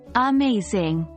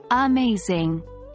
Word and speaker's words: amazing: For example, in the word amazing, the second syllable is stressed. We say it like amazing, not amazing, or amazing.